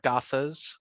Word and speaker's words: Gathas: and and so the book is called The Sacred Gathas, right? Am I Hmm. saying it right? Of Zarathustra. How do you say, could you say it? Oh, no worries, no worries. So it's the sacred Gathas of Zarathustra and the old Avestan canon.